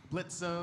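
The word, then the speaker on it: Blitzø: Uh, I was wondering which of the characters is the most thirsty between Blitzo Stalis. The O is silent and you knew that.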